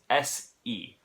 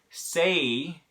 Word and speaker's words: se: This is not pronounced the same word as the same way as the English word say, S-A-Y, okay? Say has a diphthong, and that's why we spell it with an A and a Y, because that vowel is changing as you go through the word say. In Spanish, it's not say, it's se. It's just one single vowel sound.